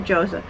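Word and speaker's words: Joseon: sing beauty of joson Ayan tama ba ang pronunciation natin joson Yeah beauty of joson so gustong-gusto ko to naubos ko na yung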